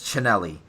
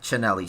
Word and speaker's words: Cinelli: says, by the way, it's Cinelli. Yep, Cinelli. CH. He's a fan of the CH, and it's pronounced with a CH.